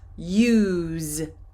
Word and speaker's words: use: So, teacher, I see the letter S, use, but the pronunciation is a Z, use.